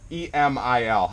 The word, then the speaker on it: Emil: that's how I met Emil. And I'm butchering your name. I know it's E-M-I-L. How do you pronounce it in Sweden? Yeah, in Sweden we would say Emil. Emil. Okay, it sounds like Emil.